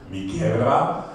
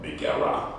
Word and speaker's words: Miguera: Ich hätte ihn Spanisch ausgesprochen, Miguera. Sie sagte aber, es ist doch Rap und Hip-Hop, Miguera.